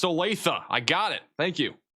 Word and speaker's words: Olathe: It's pronounced Olathe.